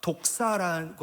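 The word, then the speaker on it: δόξα: 영광이라는 헬라어가 독사라고 하는데, 뱀이 있는 독사 하여튼 발음은 같아요.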